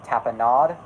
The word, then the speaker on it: tapenade: I specifically, tonight, want to talk the rise and downfall, because I feel that's a very, it's pronounced tapenade.